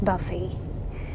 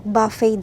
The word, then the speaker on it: buffet: kami sa isang Chinese buffet. So buffet daw ang pronunciation dito. Hindi buffet. Buffet just like buffalo sabi nung workmate ko.